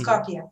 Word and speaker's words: KAPIA: features this international crowd under this dome of capia and it's copia that's the way i pronounce it but because it's an international word